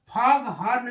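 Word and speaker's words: foghorn: dog house ऐसे ही एफ ओ जी एच ओ आर एन फॉग हर्न इसको पढ़ते हैं यहां भी साइलेंट नहीं आता है यानी कंपाउंड में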